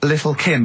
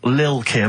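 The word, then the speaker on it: Lil' Kim: Now, Steve, I see there it's a track by Little Kim. How are you pronouncing it? I'm pronouncing that correctly. Lil Kim.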